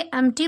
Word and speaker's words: empty: इसे एम्प्टी pronounce करते हैं, पी को प्रोनाउंस नहीं किया जाता है।